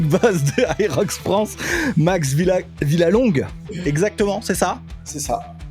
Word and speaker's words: Villalongue: C'est pas Jean-Baptiste, Et le head manager, le big boss de Aerox France, Max Villalongue.